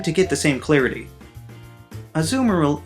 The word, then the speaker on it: Azumarill: Azumarill is just Marill's name with the word azul slapped in front of it, which is Spanish for blue.